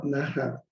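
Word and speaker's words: नः: So be careful to mention clearly Nah or Naha, to be clear in terms of your pronunciation of this mantra.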